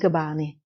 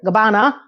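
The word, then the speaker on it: Gabbana: Ah, the Dolce and Gabani Gab. I cannot understand why I cannot phrase that last word. Gabana fashion party.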